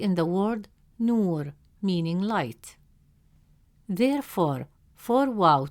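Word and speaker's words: نور: Since the long vowel waw comes immediately after nu, it stretches the short oo sound into a long oo sound.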